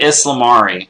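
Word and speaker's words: ysalamiri: right if he says this is how it's pronounced we're gonna just copy that so we get aslam re which again we're kind of getting an insight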